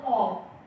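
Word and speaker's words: of: जैसे बोलते ऑफ लेकिन ओ एफ का जो प्रोनंसिएशन अपना वो होता ऑफ ठीक है और ओ डबल एफ का प्रोनंसिएशन होता है ऑफ ये इंग्लिश लज अब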